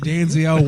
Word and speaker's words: Denzel: it's pronounced Denzel Washington.